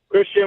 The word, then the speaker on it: Kristen: Is it Kristen? Christian with a K.